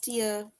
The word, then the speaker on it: tear: is different right so the pronunciation of the word is different because the one is tear right so the one is teer it's like a tear that is rolling down your face and then we tear